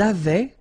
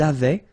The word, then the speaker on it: avaient: don't pronounce it, or we don't pronounce this E-N-T, so we get avait, okay, phonetically, ils avaient, okay, and then elles avaient.